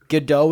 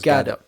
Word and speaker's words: Gadot: Godot is fine. The script Gadot. is just like, huh? Gadot. Oh, you pronounce the T?